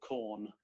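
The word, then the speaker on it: Quorn: A lot of our time is spent in a town called Corn. Uh spelled like the fake meat.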